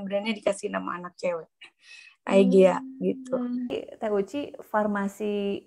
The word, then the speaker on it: Aegea: Nah itu kirain aku tuh bukan singkatan ternyata Simply of Ega ya. Aiga dibacanya.